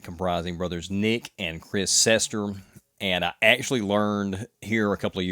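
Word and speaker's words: Cester: of years ago that it's an Italian surname, so it may actually supposed to be pronounced Chester, but the Anglicanized version of that is Sester, and that's how they're always introduced in interviews.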